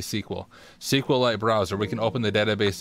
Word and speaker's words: SQL: Don't let them tell you it's pronounced SQL. It's definitely sequel.